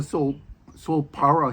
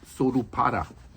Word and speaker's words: Solpara: It's called a Solpara here in English, but in Japan it's pronounced Sorupara.